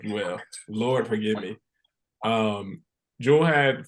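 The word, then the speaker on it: Jewell: I have a friend who spells her name like that and it's pronounced Jewel.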